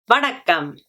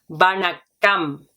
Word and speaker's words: Vanakkam: So hello or hi in Tamil is Vanakkam, Vanakkam, Vanakkam, Vanakkam.